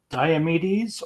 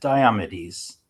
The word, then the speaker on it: Diomedes: Ken Wayne, I'm doing Agamemnon and Diomedes, or is it Diomedes? Diomedes. Diomedes. I like Diomedes Diomedes. more, but I always say Diomedes. Diomedes. Diomedes. Diomed. I'd say Diomedes. I've mostly heard it as Diomedes. I like Diomedes more. It sounds more Greek.